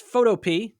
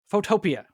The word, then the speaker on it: Photopea: It is not pronounced photo is pronounced phototopia. If you pronounce it photo, you're automatically getting an F.